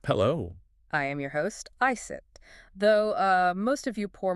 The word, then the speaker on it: Iset: I am your host, Iset, though most of you poor mortals probably know me as Isis, but I prefer Iset. It is the older pronunciation, yes.